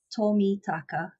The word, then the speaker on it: Tomitaka: be too difficult so Japanese names are easiest as you kind of say it is as you spell it so miss Tommy taka and you'll be able